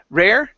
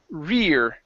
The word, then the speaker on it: rear: Instead of rare, okay, this is rear.